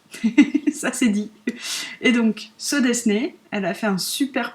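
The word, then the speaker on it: Sew Desu Ne: C'est un patron gratuit de So Desné.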